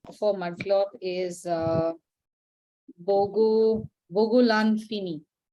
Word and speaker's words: Bogolan Fini: So in the case of mudcloth, this is, its other name for mudcloth is Bogolan Fini. It's spelled B-O-G-O, Bogo, Lan, L-A-N, Fini is F-I-N-I.